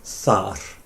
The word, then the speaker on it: þar: And the word for there is thar. Thar. Yeah? So do you want to say I am there? Ég þar. Beautifully pronounced as well.